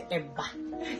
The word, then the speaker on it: eba: So we are almost done with the eba, and I can't wait to have a taste.